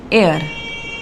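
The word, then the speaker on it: hour: Next one एयर, एयर का एच हमारा silent होता है, प्रोनाउंसिएशन इसका होता है एयर, इसीलिए इसका हम एन लगाते हैं।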